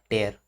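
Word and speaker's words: tear: इसको टीयर पढ़ते हैं, इसको टेयर पढ़ते हैं, TAIR, ठीक है। प्रोनाउंसिएशन के लिए आप समझिए यहाँ पे एयर लिखा हुआ है, टेयर, ठीक है। स्पेलिंग तो यही रहेगी टीयर की, पर बोलने के लिए टेयर बोलते हैं।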